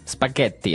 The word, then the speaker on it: spaghetti: hear it differently and what about spaghetti spaghetti spaghetti oh you pronounce the double te as well that's right